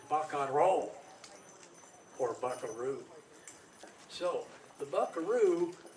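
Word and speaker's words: vaquero: Spanish pronunciation is not vaccaro the Spanish pronunciation is ba control port buckaroo so the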